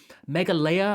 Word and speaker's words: Meghalaya: Now, I thought this was Scotland, Daz, but apparently Meghalaya, I think it's pronounced.